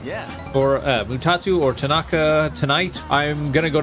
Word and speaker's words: Tanaka: buddy again tonight yeah or uh mutatu or Tanaka tonight I'm going to go to Tardis do